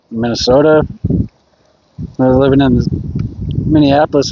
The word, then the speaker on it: Minnesota: We don't say it like that. It's Minnesota. It's not You don't got to put the emphasis on on the end. It's not Minnesota.